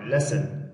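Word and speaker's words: listen: کله اس نه وروسته ټي راسي د جملې په منځ کې وي بیا ټي نه تلفظ کېږي. او ټي اچ له ټي نه وروسته که چېرته سی اچ راسي بیا هم ټي سایلنټ.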